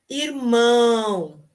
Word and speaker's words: irmã: com a letra e irmão irmão irmão irmão a palavra irmão termina com a letra o certo irmão e irmã irmã irmã irmã termina na vogal a que é nasal irmã então você pode